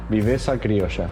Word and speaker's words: viveza criolla: Viveza criolla. Viveza criolla. Yeah. What is it? So if Brazilians live their football in jogo bonito terms, we have something different, something very different. We call it Viveza criolla.